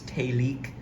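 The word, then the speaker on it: Télic: by a company called telek which is spelled t e l i c and the E has the little uh accent over it so it's talik and uh I do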